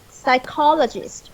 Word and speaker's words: psychologist: Okay, so first your stress. Psychologist. The second stress or the second label stress.